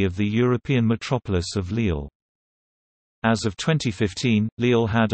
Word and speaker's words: Lille: Lille, French pronunciation, Lille, listen, Dutch, Rizel, Rizel, West Flemish, Rizel, is a city at the northern tip of France, in French Flanders.